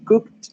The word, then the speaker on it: cooked: Bueno, en este caso, decir que the fish is cooked. Entonces aquí la pronunciación de este verbo regular en pasado, o en participio, perdón, es una T.